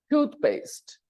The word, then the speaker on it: toothpaste: the fourth column paste toothpaste toothpaste there are only two vowel sounds tooth tooth paste paste and the stress is on the first syllable it will go in